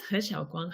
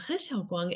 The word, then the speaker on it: He Xiao-Guang: Okay, so this is He Xiao-Guang. He Xiao-Guang is actually my Chinese name. So He is is the Cantonese romanization, but I speak Taiwanese, so He is how we pronounce it.